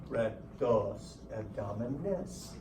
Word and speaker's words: rectus abdominis: listen to me when I say sound it out and over-accentuate the last vowel. If you do that, you're not going to misspell it. Rectus abdominis.